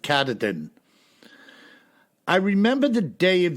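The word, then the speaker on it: Katahdin: carterton woods and Waters that's k-a-t-a-h-d-i-n I pronounce it katadin I remember the day of the incident as if it was yesterday being August 27 1971.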